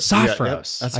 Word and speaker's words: Sophros: Uh, Saffros, Sophos, Sophos, Sophos, I just said it right twice.